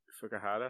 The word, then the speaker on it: Fukuhara: Karen Fukuhara. Is that how you say her name? Yeah.